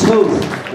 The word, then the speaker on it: Toth: It's Toth, like toast. And the way you can remember that is because if you're competing against them, you're toast.